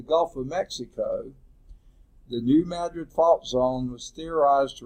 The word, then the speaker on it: Madrid: occurred not in California, but in a region near of New Madrid, Missouri. Now, we pronounce it Madrid, but I think that's called Madrid, because Missourians don't know how to talk about it.